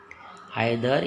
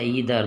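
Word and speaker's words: either: आइदर या ईदर दोनों उच्चारण कर सकते हैं।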